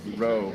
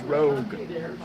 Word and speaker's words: Rogue: think it's mixing uh it's not Roe it's not Rouge it's Rogue I mix the two